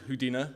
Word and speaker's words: Houdina: The guy was called Houdina. That's not a mispronunciation.